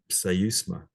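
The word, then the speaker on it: ψεῦσμα: There's another neuter, third declension word, to, pseusma. So the first word is, first letter is C. You pronounce the P and the S sound in it. So pseusma.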